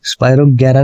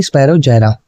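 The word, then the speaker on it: Spirogyra: फिर सॉरी मैंने ना इसमें हाँ स्पायरोगेरा नहीं होता, स्पायरोजेरा होता है। ठीक है, प्रोनाउंसिएशन क्या है इसकी? स्पायरोजेरा।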